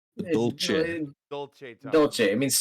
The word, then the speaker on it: Dolce: Please do not say it with a CH.